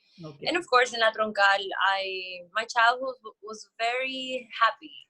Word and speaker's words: La Troncal: Correct me if I'm wrong with the pronunciation. Is it La Troncal? Yeah, La Troncal.